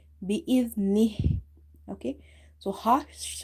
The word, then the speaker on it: بإذنه: When the ha is silent, we give it as we read it like this, nih bi-idhnih.